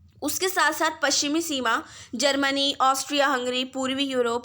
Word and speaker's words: czar: ज़ार को इंग्लिश में CZAR लिखते हैं और लेकिन पढ़ते उसको ज़ार ही हैं। ठीक है, सी साइलेंट है।